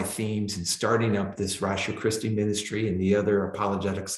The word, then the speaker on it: Ratio Christi: Ratio Christi. Ratio Christi? Yeah, RATIO space Like CH. rational, except for the first part of rational. It's ratio. Latin for the rationality of Christ.